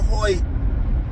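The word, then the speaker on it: Hoecht: His name does not look like it's pronounced Hoy, but that's a whole another story. But anyway, um we got Michael Hoy back and it looked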